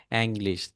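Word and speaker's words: Englisch: এরপর হচ্ছে তার এল সাথে আই একটা এস সি এইচ মনে SCH, হয় ভাই। অ্যাংলিশ হ্যাঁ। উচ্চারণ হয়, অ্যাংলিশ। তারপর হচ্ছে ফল, ফাল, যেটাকে ফল উচ্চারণ বল।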